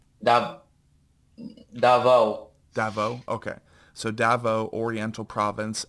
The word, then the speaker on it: Davao: How do you pronounce that? I want to make sure I'm Yeah. getting this right. Dav Davao. Davao.